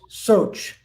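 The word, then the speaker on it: shaucha: the first one is soch and it's uh different ways to spell out sometimes people spell s-h-a-u-c-h-a a la uh the roman sound script would do it s-h-a-o-c-a the c has a cha sound so um let's say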